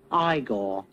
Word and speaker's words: Igor: they did do an igor figure no it's pronounced igor but they told me it was eagle well they were wrong then weren't they but